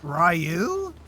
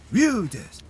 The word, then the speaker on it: Ryu: Holy have I been pron is it not Rayu? Ru Ru. And you're like, okay, I've watched enough anime to to pretty much confirm that this is Ryu and not Ryu.